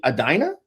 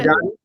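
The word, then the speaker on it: Edina: the Washington Avenue warehouse in how do you pronounce that? Adina. Yeah, you got it. Adina.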